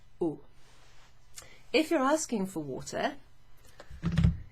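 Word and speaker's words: eau: do you pronounce that it's pronounced just like the letter o in french oh if you're asking for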